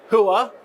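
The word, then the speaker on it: Hooah: the correct pronunciation. A hua, b hya or c ura, a thank you.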